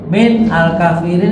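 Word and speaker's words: مِنَ الْكَافِرِين: ada min di depannya tuh ada min tuh ada huruf jar ya huruf jar jadi min alkafirin kan enggak enak jadi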